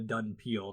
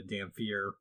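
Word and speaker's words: dhampir: He's called a Dunpeel, not a Dampier. Yeah, but it's too bad. That's how it's spelled.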